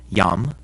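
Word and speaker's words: iam: rule is pretty easy if a word begins with an i and the next letter is a vowel like in these words it's actually a consonant and sounds like our y so these are pronounced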